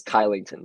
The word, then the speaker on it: Kylington: quite yet it's uh looks like it says kylington though so don't look for a sch it's kyle you'd be looking for when putting together your